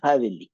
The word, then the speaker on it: Hadelich: Pero yo en la vida, honestamente, había escuchado de un violinista que se llama Agustín Hadelich, o Hadelich, se escribe Hadelich.